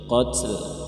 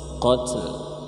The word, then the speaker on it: قتل: قتل ada lamnya ya, قت kalau قت saja enggak bisa. Nah ini ada huruf lam jadi bacanya قتل قتل ya gitu ya.